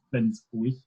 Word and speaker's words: Flensburg: very north of Germany called Flensburg, or Flensburg, as I would try and say with my very best German pronunciation hat on.